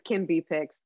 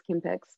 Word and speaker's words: Kimberly: with a B so everyone thinks it's Kim B picks it's not it's Kim picks but the B is silent like lamb or climb you can tell I've